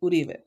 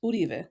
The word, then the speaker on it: Uribe: It's actually pronounced Uribe. It's Basque. It's Spanish Basque.